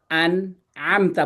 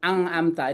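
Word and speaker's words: أنعمت: nanti ada aturannya ini ini kalau nun di depan ini itu harus dibaca jelas kayak gitu itu nanti nanti kayak di sini ini an a ini an amta bukan ang amta ini harusnya jelas nnya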